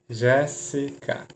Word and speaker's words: Jéssica: Jéssica. Eu vou acentuar, por quê? Ser mais forte é a antepenúltima, acentua.